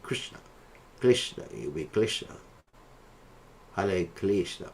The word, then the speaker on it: Krishna: Sometimes we find devotees mispronounce the name because of laziness. One time, I think it was a devotee chanted like Hari Quispa, and Prabhupada said, "Who is that Quispa?"